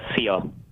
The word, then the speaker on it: Szia: It's Szia in Hungarian. Szia. Szia. It sounds like when we say goodbye. See ya. Yeah, see ya.